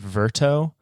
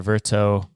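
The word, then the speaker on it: Vertoe: a website service called verto v r t o e I think that's how you pronounce it absolutely where uh a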